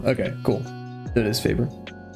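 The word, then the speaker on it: Faber-Castell: Newton are my favorite pencils but how to pronounce fav Castell okay cool that it is favor so okay also Statler is it Statler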